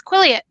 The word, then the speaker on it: Quileute: And it's pronounced as Quileute.